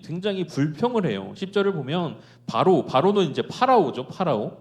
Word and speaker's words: 바로: 10절을 보면 바로는 이제 파라오죠. 파라오. 파라오의 어 이스라엘식 발음이에요.